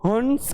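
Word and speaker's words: हँस: लेकिन जो नीचे शब्द लिखा है और उसमें जो अनुनासिक का प्रयोग किया है उसका उच्चारण हंस न करके उसका उच्चारण कैसे करेंगे? हंस करेंगे।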